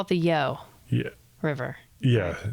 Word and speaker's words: Yough: But they call it the Yough Yeah. River. Yeah, it's called the Yough. Or is Anyway. it the Yag? No. It's the There's Yough. no hard G noises in the abbreviated But there isn't a version.